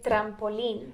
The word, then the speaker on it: trampolín: El trampolín. El trampoline. I gotta roll that R.